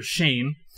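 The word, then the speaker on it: Cheyne: In 1988, his parents pulled both Chevy and his younger brother, Shane. That's spelled with a C-H-E-Y-N-E, not Shane with an S-H.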